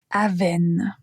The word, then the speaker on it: Avène: Répétez la prononciation après moi. Avène.